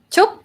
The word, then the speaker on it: ชุบ: Chup. ชุบ Chup. Chup. ใช่ Chup. It sounds like chupa chup.